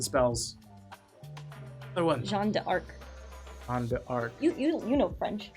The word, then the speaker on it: Jeanne d'Arc: Jeanne d'Arc. You know French. How do you pronounce it?